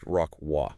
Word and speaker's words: Rocroi: O C R O I, but it's actually pronounced rockw.